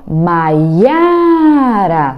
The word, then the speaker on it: Maiara: por exemplo meu nome Maiara Dá até para gente brigar para nós brincar e o nosso nome né mas ia para a sílaba forte do meu nome é a do meio Maria Joana Elza